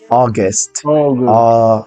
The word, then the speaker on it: August: este mes se pronuncia august fíjense que no no es a tampoco es u aust anys noach perfect next